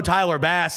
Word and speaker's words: Tyler Bass: pronunciation guide Tyler bass next to Bass they write in parentheses like the fish that was the first